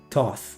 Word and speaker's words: Thoth: Thoth. Thank you. Yeah, I also pronounce it like this.